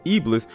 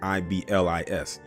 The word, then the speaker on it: Iblis: I told them Iblis was Arab American.